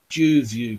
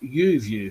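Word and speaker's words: YouView: I'm doing it on calling it the Jew view camera and it wasn't till about a year later I realized it was supposed to be pronounced you view camera so don't ask me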